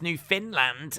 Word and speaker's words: Newfoundland: minutes uh uncle dana newfoundland is pronounced new finland and it's a province